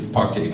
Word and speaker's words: Phake: Phake, did I pronounce it correctly? Phake, yes, is the founder and CEO of the Zenzele group.